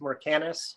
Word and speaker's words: Mercanus: little bit more about your company did i pronounce it correct mercanus is that it is mercantus that is correct